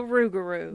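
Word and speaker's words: rougarou: this is because it was on Supernatural the rugaru the rugaru originating from Southern Louisiana the tale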